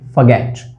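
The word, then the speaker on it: forget: इसको फॉरगेट नहीं बोलेंगे, इसको बोलेंगे फॉरगेट। र यहाँ पे साइलेंट है, ओ की आवाज़ यहाँ पे आएगी नहीं, सिर्फ आवाज़ आएगी फॉरगेट, फ श्वा ग एट।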